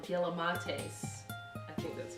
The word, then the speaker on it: Galimatias: So this group is called Gilamates. I think that's how you say it. It's G-A-L-I-M-A-T-I-A-S, Gilamates.